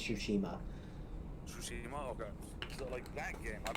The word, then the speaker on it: Tsushima: Tsushima, okay.